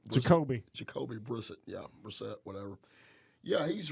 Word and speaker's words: Brissett: Brissett, say his name Brisket? Jacoby. Jacoby Brissett, yeah, Brissett, whatever.